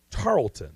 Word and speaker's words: Tarleton: Tarleton. I guess that's how you pronounce it. I'm sure it's a wonderful place. It's Tarleton. Tarleton.